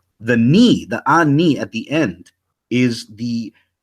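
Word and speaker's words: אני: Those who know Hebrew, standard Hebrew, would say it's pronounced ani, right? And they would say, no, it's pronounced anaya, or the Torah Knights cats would say ane or something like that.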